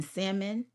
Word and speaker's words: salmon: I'm not f to argue with somebody who pronounces the L in salmon or who reads using their fingers.